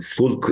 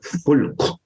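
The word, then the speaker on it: فلك: But here the term fulk is used. And this is a very interesting terminology, because when you pronounce fulk softly in Arabic, it means it's singular. But if you pronounce it fulk, more strongly, it indicates to a fleet of ships.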